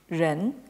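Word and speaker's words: 人: avez ici en fait le graphème qui se prononce en chinois moderne de la même façon, Ren, donc, et qui désigne donc l'homme en tant qu'être humain.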